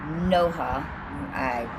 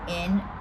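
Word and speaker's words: ܢܘܗܪܐ: The Aramaic word for light, which is Noha, that's not even how I pronounce this, but it's Noohra, is often used as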